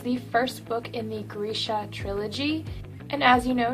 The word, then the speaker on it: Grisha: first reading this book i thought it was pronounced grisha which i very shortly after learned was wrong it is pronounced grisha i learned this last month when i met leigh bardugo and she said grisha and i was like i'm so sorry i've